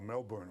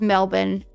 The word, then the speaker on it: Melbourne: You don't We just need to change the spelling of of Melbourne. Honestly, people that pronounce the R in Melbourne.